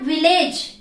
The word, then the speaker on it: village: It's not village. It's village.